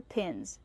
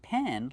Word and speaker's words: pin: Use the short I sound like this. Is pi pin. Not pen like you're right with, but pin. These are regular push pins.